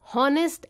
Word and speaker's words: honest: For example, an honest man. Honest starts with the vowel sound O when we pronounce. The letter H is silent. We pronounce honest as honest.